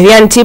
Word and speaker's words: Bianchi: Mira, a mí en ese tema no me gustaría meterme, es Bianchi, pero bueno, mi club de fans sabe igual que no me gusta que me digan Bianchi con K, por ejemplo, pero bueno, hay gente